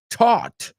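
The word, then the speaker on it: taut: They do sound the same. The first one taught. The second one taught OA the difference. The second one is spelled T A U T as your classmates have pointed out.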